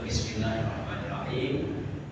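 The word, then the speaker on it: بسم الله الرحمن الرحيم: Bismil L-nya di belakang gigi saya atas.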